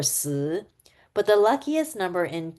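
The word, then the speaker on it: 四: I'm Chinese American, and in Chinese culture, the number four is bad luck because it has the same pronunciation as death or si.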